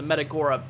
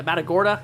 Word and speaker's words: Matagorda: up there just north of uh the the metora uh the matora yeah Matagorda Bay I'm pretty sure how you say it